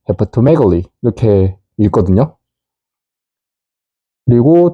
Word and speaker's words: hepatomegaly: 그래서 우리가 넣어주는 게 발음을 쉽게 하자 해서 결합형인 O를 중간에 넣어줍니다. 그래서 실제로 발음 기호를 통해서 발음을 해보면 hepatomegaly, hepatomegaly, hepatomegaly 이렇게 읽거든요.